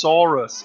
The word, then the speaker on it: Soros: he's behind now obviously his name is actually pronounced sorus cuz that's that means